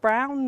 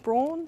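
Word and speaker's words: Braun: brown and Clark and it's pronounced brown not brawn so you're in the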